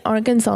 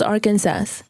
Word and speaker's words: Arkansas: Why do you say Arkansas like that? It's I always thought it was Arkansas. No, it's Arkansas. It's Arkansas. That's how you pronounce it.